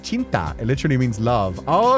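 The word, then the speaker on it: cinta: Oh, so it's pronounced chinta. It literally means love. Oh, okay. Thank you. Chinta.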